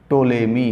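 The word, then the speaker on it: Ptolemy: subscribe करें और हाउ टो लेट मी कि तुमने spelling पीटीओ alien Y P silent चमक तुला मी हजार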